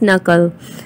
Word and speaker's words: knuckle: so the last are knuckle k is silent so we pronounce knuckle the second is a